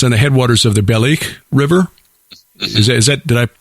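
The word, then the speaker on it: Balikh: Shanlurfa, Haran, where Abraham made his final departure for the land of Canaan, is on the headwaters of the Belik River. Is that? Did I pronounce that correctly?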